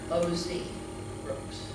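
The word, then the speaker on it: Ausbrooks: It's spelled A-U-S-B-R-O-O-K-S. And if you look for it under that name, you will miss a lot of records that are filed under O.Z. Brooks.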